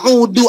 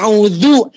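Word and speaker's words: أعوذ: kita membacanya dengan benar contoh ada yang membaca Ta'awudz begini harusnya pakai Dal atau pakai dal tapi dia pakai huruf Dal tidak ada titiknya audu itu artinya Jadi aku kembali yang harusnya a'udzu aku berlindung kepada siapa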